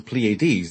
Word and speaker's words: Pleiades: So the Pleiadians call themselves, actually, Ardri says the Pleiades, doesn't he? He emphasizes the Pleiades, the third syllable.